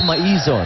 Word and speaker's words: Maizo: So it's Maizo, the correct way you pronounce her name. So when you bump into her on the streets, make sure you call her the right way.